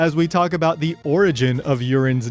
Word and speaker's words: Yurin: Yes, it's written Y-U-R-I-N, so it seems like you should pronounce it Yurin. However, in the English dub, her name is pronounced Yurin.